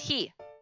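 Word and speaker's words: ひ: one is an easy one for that it's he oh it's like a hippo's face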